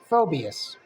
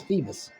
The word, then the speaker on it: Phoebus: fallen in love with phobias i think that's how you pronounce phoebus phobias i think it's phoebus uh phoebus he sees that and